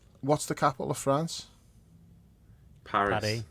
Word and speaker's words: Paris: you not calling it Parry that's how the French pronounce it because it's Paris it's